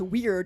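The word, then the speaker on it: Wyrd: at the word word is gonna think it's pronounced weird unless they pronounce weirdly well done also if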